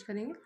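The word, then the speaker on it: corps: इसकी स्पेलिंग है सीओ आरपीएस। लेकिन इसको पढ़ा जाता है कोर नॉट कॉप्स इट्स कोर national credit कोर यह कब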